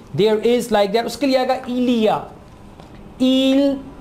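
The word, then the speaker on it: il y a: There, उसके लिए आएगा इलिया, इल, ई, वाई को प्रोनाउंस करेंगे ई, इल, ई, आ, इलिया, इलिया, इलिया, देयर इज, देयर आर।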